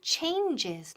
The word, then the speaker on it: changes: Ojo, la pronunciación changes, dos sílabas. Change es singular, changes, plural, dos sílabas, changes. Por ejemplo, tell him to make the necessary changes.